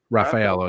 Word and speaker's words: Raffaello: How do you pronounce Raffaello? Raffaello, yep.